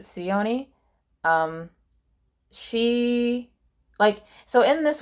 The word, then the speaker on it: Ceony: I think it's Sione, Ceony. I'm gonna pronounce it Sione.